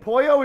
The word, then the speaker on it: pollo: an Italian it's Polo in Spanish it's Pollo because I know that first oh all our friends says eh that was good I don't know if we're saying it right I know yours was good I know for a fact because I took two years of Spanish in college that polio is chicken Poyo is chicken I know that for